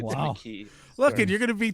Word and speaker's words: McKee: McKee, and it's not pronounced McGee.